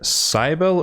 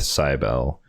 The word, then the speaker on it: Cybele: So next up, we have Mother Cybele or Cybele, depending upon how you want to say her name. I'm going to go with Cybele, but she is a